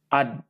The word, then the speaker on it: I'd: Oke, yang pertama di sini adalah ad ya, yang I ada corak D-nya, itu dibacanya apa? Ad.